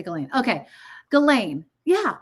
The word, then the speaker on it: Ghislaine: Okay, Ghislaine. Yeah, it's just like Elaine with a G in front of it. Okay, Ghislaine.